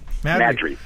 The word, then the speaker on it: Maddrey: Maddrey, is that how you pronounce it? Maddrey. Yeah, it's available on Amazon, Barnes